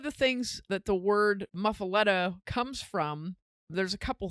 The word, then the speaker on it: muffuletta: as is the loaf of bread itself is muffaletta there's a couple different ways to pronounce it but basically that's it muffaletta and it is a sicilian style bread probably